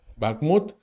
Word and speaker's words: Bakhmut: Bakhmut, depende, pero ese es el patrón de pronunciación, Bakhmut.